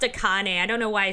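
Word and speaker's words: Akane: Aane. She looks nothing like Aane. the vagina. You had the same face for 15 years. He realized me. Actually, it's pronounced a Kane.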